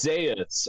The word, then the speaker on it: Zaeus: Then how is it pronounced? Go ahead. Yeah, it's Zas after uh Dr.